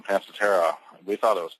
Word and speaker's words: Pancetera: Uh but as we were out talking to folks uh people are saying Panseter back to us so we changed pronunciation of Panceta.